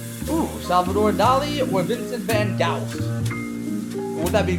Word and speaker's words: Van Gogh: Ooh, Salvador Dali or Vincent van Gogh? Or would that be Goff? Or Guff? There's a lot of ways you can pronounce that O-U-G-H that's incorrectly spelled for Van Gogh.